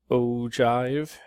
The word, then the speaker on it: ogive: at something called an ogive okay so it ogive is spelled o giv e pronounced o jive all right so this